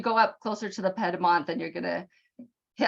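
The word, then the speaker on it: Piedmont: done just gonna say I think we typically pronounce that pedmont uh the lot you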